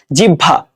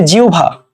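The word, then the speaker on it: জিহ্বা: এখানে যে এই জিনিসটা এই যে আমরা আমরা কিন্তু অনেকেই এই ওয়ার্ডটাকে কি বলি? জিভা বলি। তাই না? জিহভা। ঠিক আছে? জিহভা। সো জিহভা না এটা এটা কি? এটা হবে জিউভা।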